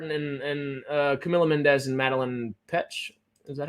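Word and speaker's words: Petsch: We'll say Lily Reinhart and Camila Mendez and Madeline Petch. Is that how you say it? Petch, yeah.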